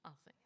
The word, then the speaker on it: Althing: And I'm talking about the oldest parliament in the world, Althing. Is that correct pronunciation? Althing, yes.